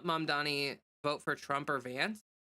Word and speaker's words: Mamdani: Then if it's not a Mamdani, okay, so I said his name improperly. Then, did you spell it wrong on accident, or were you making fun of the way that I said that? Mamdani. How is it? Hold on. Yeah, it's Mamdani. Okay, I just wanted to make sure.